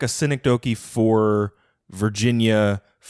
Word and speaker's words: synecdoche: sort of like a synecdoche for virginia is that how it's pronounced i think it was synecdoche i think you got it but you uh put the stress wrong but i used the